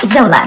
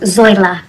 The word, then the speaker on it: Zoila: Now, Zola. Actually, it's pronounced Zoila.